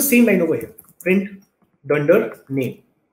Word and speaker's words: dunder: right so this is Dunder name the way you would pronounce this is you would say Dunder name and this just stands